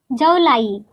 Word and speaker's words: जौ लाई: Jaulai rhymes with July.